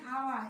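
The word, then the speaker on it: hour: এইচ এন আওয়ার, এইচ ও ইউ আর, এখানে দেখো আছে কিন্তু এইচ, শব্দের প্রথম অক্ষর আছে এইচ। আমরা জানি এইচটা কনসোন্যান্ট, কিন্তু আমার এইচটা উচ্চারণ হচ্ছে আ এর মতো, ভাওয়েলের মতো, এজন্য এর পূর্বে এ না বসে এন বসবে।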